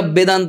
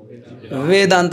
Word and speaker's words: বেদান্ত: অনেকেরা বেদান্ত বলে, বেদান্ত মানে শুনতে কেমন লাগে? যার দাঁত নেই। এটা কি ঠিক উচ্চারণ? কিভাবে বলা উচিত? বেদান্ত। বেদান্ত মানে দন্ত ওষ্ঠ, উপরে দাঁত আর নিচের, হ্যাঁ ওষ্ঠ, अधर ओष्ठ।